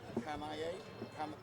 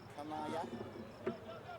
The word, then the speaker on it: Kanaya: Hiroke Kanaye. Kanaya. Okay. Hard on the vowels.